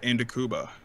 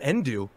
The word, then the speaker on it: Ndukauba: And he looked at me, he's like, my name is not Endu.